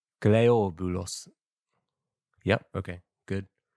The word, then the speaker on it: Cleobulus: What's the Greek pronunciation of that? Cleobulus Cleobulus I guess it is correct. Cleobulus Yep, okay, good. Cleobulus.